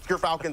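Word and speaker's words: Gyrfalcon: We actually, off screen, we're figuring out how it's pronounced. But Gerfalcons, everyone, so anyone who mispronounces it, that's how you say it.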